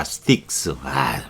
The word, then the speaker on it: Styx: 대문자로 써서 STYXS X입니다. sticks. sticks. 참, 뭐, 이런 거, 여러분이,